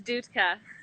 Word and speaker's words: Dutka: about a year ago or maybe more correct pronunciation of your last name uh it's dudeka oh i did get it right yeah you